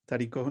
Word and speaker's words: Tariq: very good go ahead tariq hopefully i'm pronouncing correctly your name tariq has a question you did it right um so this i